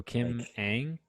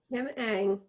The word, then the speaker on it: Kim Ng: Pronounced Ang. So Kim Ang? Yep. Kim Ang.